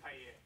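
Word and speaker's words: Paillier: The key to French is don't pronounce anything you absolutely don't have to pronounce. Okay. So Pilier.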